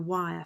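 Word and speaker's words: Wyre: was that the party should cycle through the wire forest he knows it from his time as a clergyman when the family lived at enville in the 1880s he regards the wire forest as one of the few virgin forests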